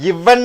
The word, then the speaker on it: event: ஈவெண்ட், நிகழ்வு என்று சொல்கிறோம். அதை ஈவெண்ட்டுங்கிறது இவன் என்று நிறுத்தி விடுகிறோம். இவன், தமிழிலே இவன் என்று சொல்வது போல ஈவெண்ட், நிகழ்ச்சியை இவன் என்று சொல்கிறோம். ஏன்னா எண்ணுக்கு அப்புறம் டீ வந்துட்டா நம்ம டீயை உச்சரிக்கக்கூடாது.